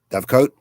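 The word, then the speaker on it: dovecote: a word correct d-o-v-e-c-o-t-e Dove coat or dovecott Dove coat okay all right a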